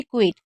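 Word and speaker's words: quit: क्विट में हम आई को ई पढ़ रहे हैं और टी को ट पढ़ रहे। यानी कि क्विट। क्वाइट भी होता है लेकिन उसमें इ आ जाता है। इस वजह से हम उसे क्वाइट बोलते हैं।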